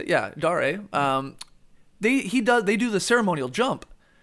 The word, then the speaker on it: Dare: Yeah, Dare.